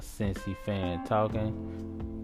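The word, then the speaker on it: Cincy Fan Talkin': That's a Cincy fan talking. You say it like it sounds, just leave off the G.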